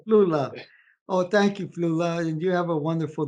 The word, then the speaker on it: Flula: Yeah, Flula, like you have a flu in Los Flula, Angeles. Flula, Flula, yes, Flula, yes, Flula. yes. All right, Flula. Oh, thank you, Flula.